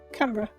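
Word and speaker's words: Canberra: Only it's called It's pronounced CRA. Camra.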